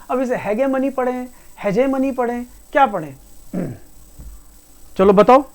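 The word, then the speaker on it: hegemony: इसे पढ़ते हैं हेजेमनी। तो हेजेमनी की बात करें, हेजेमनी की अगर हम बात करें प्रोनाउंसिएशन, तो बेटा पैसे वाला मनी नहीं है ये पैसे वाला मनी नहीं है। तो जिसके अंदर ये MONEY आ रहा है तो वैसे गलत है, हेजेमनी।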